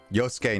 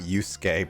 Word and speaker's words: Yosuke: Yosuke, not Yusuke, by the way, says Justin.